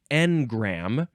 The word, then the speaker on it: engram: next is in no you have to emphasize the first syllable engram spelled e n g